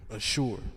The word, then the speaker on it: Ashur: Now that's how you pronounce it in the Hebrew. Ashur.